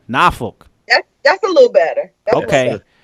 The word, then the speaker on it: Norfolk: It's Norfolk. It's not Norfolk. It's not, That's definitely a word that should be bleeped. Okay. Right. It's not that either. So Norfolk. Did I say it right? Norfolk.